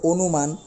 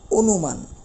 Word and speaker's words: অনুমান: বুঝতে পারতেছি একই রকম ভাবে যদি আমরা বলি অনুমান দন্তন্য ন এর সাথে একটা কি আছে রসুকার রয়েছে যেহেতু রস উকার রয়েছে তাহলে তাহলে অবশ্যই এই অ এর উচ্চারণটা ও এর মত হয়ে যাবে অর্থাৎ অনুমান আমরা উচ্চারণের সময় আমাদের বলতে হবে অনু মান